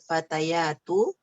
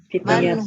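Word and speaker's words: فتيات: Man haula'il fatayatu. Masa itu bacanya fatayat? Fatayat. Masa Om? Ya-nya pendek loh. Fitiyat. Tak tak merbuta. Naam. Fitiyat.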